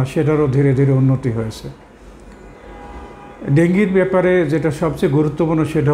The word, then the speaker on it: ডেঙ্গি: বর্তমান সময়ে ডেঙ্গু প্রচলিতভাবে যেভাবে আমরা বলি, আসলে এটার সঠিক উচ্চারণ হলো ডেঙ্গি।